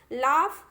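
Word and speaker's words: laugh: लाफ, तो लाफ जब बोल रहे हैं तो F जैसा प्रोनाउंसिएशन निकल रहा है, GH जैसा नहीं निकल रहा है।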